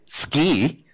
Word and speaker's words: SCI: this morning told me I have to pronounce it ski and what I'd like